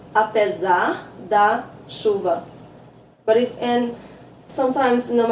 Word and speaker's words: apesar: But apesar, remember here in Portuguese, if there's an S between two vowels, it's pronounced as a Z, and in a previous video, yes, we discussed that.